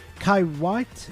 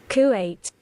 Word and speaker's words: Kuwait: you realize there is a little country called Kaiwat? Kywit. No, we're fine. We're fine. I disappeared. Three times. He does it three times. Pronounce it correctly. Save my life. Kuwait classic.